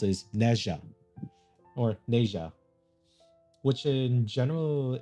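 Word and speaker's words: Nezha: how you do it's how you're supposed to pronounce is nja or nja which in general is a story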